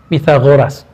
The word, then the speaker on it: Pythagoras: e Sundanya Pi pyagoras th itu bacanya t pitagoras dan saya kaget kok